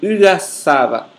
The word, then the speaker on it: uaçaba: Se pronuncia como uaçaba.